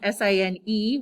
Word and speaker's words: sine: you have to say sine of an angle and the word sign is s-i-n-e we abbreviate it without the e but we usually still pronounce it sine and i'll just put